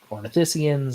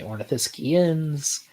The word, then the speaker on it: Ornithischians: There's a few ways you can pronounce it. Some people say Ornithischians, some say Ornithischians. I usually say Ornithischians, but there's no real correct way to do it.